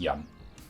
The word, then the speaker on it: Jan: But when I pronounce it for other people, and especially in English, I don't pronounce it as it is pronounced sometimes. It's just Jan.